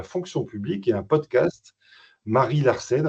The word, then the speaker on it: Marie Larsen: publique et un podcast Marie Larsen. Alors peut-être qu'il faut le prononcer avec l'accent Mary Larsen. La magie de Non non, c'est Marie Larsen. C'est bien Marie Larsen qui sortira le 17 avril prochain.